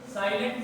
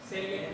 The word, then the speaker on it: salient: अब ध्यान से देखिए, साइलेंट फीचर, ये साइलेंट फीचर है, सेलिएंट फीचर।